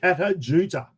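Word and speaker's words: Kata Tjuta: Kata Judah. There's that silent T in there.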